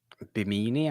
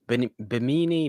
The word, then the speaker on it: Bimini: kimber also says i i can't beanie i assume that is pronounced bimini bon boo lash has a